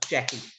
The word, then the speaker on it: Jacky: write down my name okay and this the syllable so jackie jackie so immediately we've introduced syllables and stress